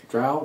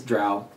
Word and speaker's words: drow: the the drow dro drow dro i like the dro but everybody says it's drow well i know i just mispronouncing it for 20 years that's fine or do